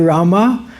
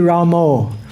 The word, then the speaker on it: Rama: So sometimes devotees pronounce Hare Rama and sometimes devotees pronounce Hare Ramo. So one time I heard the story that Srila Prabhupada was speaking with Vishnu Jan Swami, and Vishnu Jan Swami was pronouncing it Ramo. And Srila Prabhupada said, "Who is this Ramo? You're spoiling my movement."